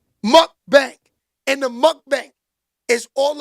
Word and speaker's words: mukbang: In those but how you say it again, Tom? Mukbang? Mukbang.